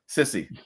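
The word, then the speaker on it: Sissi: Now, real quick, and I don't know if this will help you remember how to pronounce her name, but Sissy.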